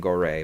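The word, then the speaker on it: Goree: pronounce his name uh i've heard both gory and goray but i think it's gory and um uh who's the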